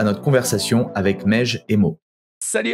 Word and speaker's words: Meigge: Alors, juste mon prénom, ça se prononce Mej.